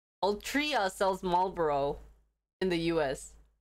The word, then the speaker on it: Altria: ultra all draw ultiro i don't think this is ultra i think this is all trio have i been pronouncing this wrong so it's all tria altria sells marlborough in the